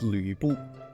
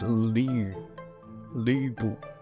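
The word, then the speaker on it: 呂布: That is a hard word to pronounce for a lot of Westerners, but the name is Lu Bu. See, that's Lu Bu.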